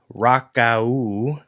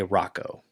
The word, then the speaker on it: Rakau: So, the actual pronunciation is rock, but many people just say Rocco.